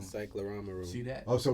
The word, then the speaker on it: cyclorama: psychorama. Cyclorama room. See that? Oh, so we both wrong. Why I gotta spell it?